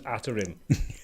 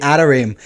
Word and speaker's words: Atarim: So, Atarim. like the real it means websites in Hebrew. So if you pronounce it in the Hebrew way, it's actually Atarim.